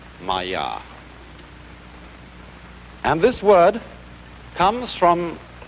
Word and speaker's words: maya: i'm going to write that down for you pronounced maya and this word comes from a root in